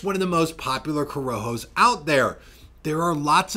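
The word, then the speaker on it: Corojo: relief and that is the coroho seed. By the way, if you've been pronouncing it corrojo, here's your sign.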